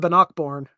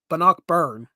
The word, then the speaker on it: Bannockburn: Blood of Bannockborn. Yeah, I had to make sure I pronounce it right. Blood of Bannockborn. Bannockburn.